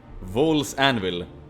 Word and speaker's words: Vaul's Anvil: Vaul's Anvil, that's the proper pronunciation.